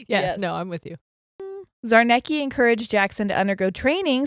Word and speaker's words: Czarnecki: say his name casimir's zarnecki sure he's polish so it's it's a lot of z's that i know aren't like c's and z's and i'm like those c's you don't pronounce um and they worked